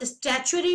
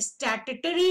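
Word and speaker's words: statutory: स्टैच्यूटरी body under an एक्ट of parliament, आप स्टैच्यूटरी भी बोल सकते हैं, स्टैट्यूटरी भी बोल सकते हैं, दोनों प्रोनाउंसिएशन होते हैं, राइट।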